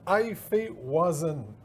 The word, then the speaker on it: Hefeweizen: On dit que c'est là, je vais essayer de le prononcer comme il faut, une Hefeweizen.